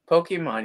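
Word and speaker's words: Pokémon: Pokemon, yeah. All right. Well, it was drilled into us. It's Pokemon. More of an A sound. Pokemon. Pokemon. So, A. Pokemon. More of an A. Pokemon.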